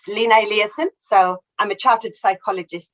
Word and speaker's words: Lina Eliasson: Yeah, that sounds pretty good, that pronunciation. It's Lina Eliasson.